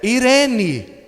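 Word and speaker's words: εἰρήνη: Aí depois foi traduzido para o grego, e a palavra grega é irene, translitera com Eirene, mas pronuncia Irene.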